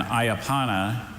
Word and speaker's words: ayapana: And ayapana is a low-spreading herbaceous Brazilian shrub whose long narrow leaves are used to make a mildly stimulating decoction resembling tea.